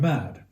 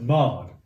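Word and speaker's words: Mád: But we were in the village of Mad, or perhaps Mard. And of course that was wonderful. And we were probably mad to go in there, but you know, what great madness. But it's spelled M-A-D, and so every time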